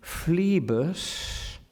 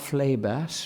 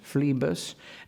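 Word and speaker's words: Phlebas: the first syllable there fleebus not Flay bass for instance fleebus and Phoenician Phoenician not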